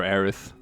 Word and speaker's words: Aerith: been arias yeah well Aerith sounds really weird and it's awful to pronounce so April said that like it's because it's it's supposed to sound a bit like Earth because she is like